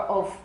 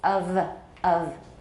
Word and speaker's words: of: In English spelling, that's the only case when F is pronounced as a V.